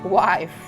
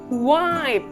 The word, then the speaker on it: wife: cara yang benar itu wife wife istri kamu pintar your wife is smart your wife is smart jadi wife jangan bilang white Oke next Saya punya